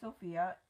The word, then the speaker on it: Sophie: it like Sophia so you spell it like Sophie and pronounce it like Sophia and the reason I